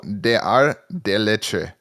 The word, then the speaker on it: Ordre des Arts et des Lettres: Ordre des Arts et des Lettres. You're making a huge mistake, and that is pronouncing every letter. Yeah, that is my fault. Okay. Oh, des Arts des Lettres.